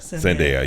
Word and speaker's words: Zendaya: Zendaya, yes.